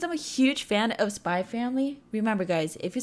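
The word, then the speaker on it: Spy × Family: Because I'm a huge fan of Spy Family. Remember, guys, if you say Spy X Family, that's wrong, that X is silent.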